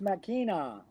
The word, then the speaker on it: Machina: Yeah, Right there, the Legend of Vox Machina. Machina. It's pronounced Machina.